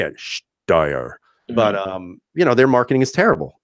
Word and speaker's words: Steyr: Remember how to spell it? Yeah, I forgot to say. I know how to say it. Steyr.